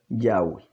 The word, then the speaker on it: Yahweh: este erudito en inglés como pronuncia el nombre del eterno y lo pronuncia yagüe entonces a la luz